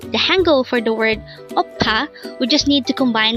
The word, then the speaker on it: 오빠: Word number 72 oppa this word is composed of two syllables the first syllable is O and the second syllable is PA pronounce it with me